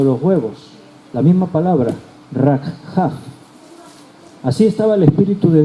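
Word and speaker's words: רחף: movía, en hebreo es rakhaf. ¿Estáis tomando notas? Deletreo, si queréis anotar la palabra hebrea. R-A-K de kilo, J-A-F, con acento en la última A. Rakhaf.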